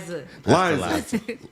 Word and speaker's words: Liza: Sunday, November 23rd, 5 o'clock p.m., the guest speaker will be Pastor Lisa Resendez. I hope I pronounced that right. Liza. Gotcha, Liza Resendez.